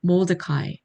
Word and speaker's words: Mordecai: 모르드게 영어 발음은 Mordecai. Mordecai.